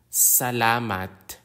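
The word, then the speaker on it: salamat: AO is a watch the consonant s like s in the word Sun Salat Salat Salat means thank you in English the consonant T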